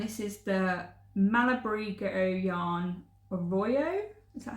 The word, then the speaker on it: Arroyo: So I bought 3 skeins, and this is the Malabrigo yarn Arroyo, is that how you pronounce it?